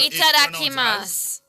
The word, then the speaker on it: Itadakimasu: So Itadakimasu. Pardon? It's pronounced as Itadakimasu.